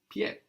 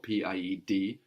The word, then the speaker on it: pied: a P in French, and the D, which isn't pronounced now, P-I-E-D, D and T are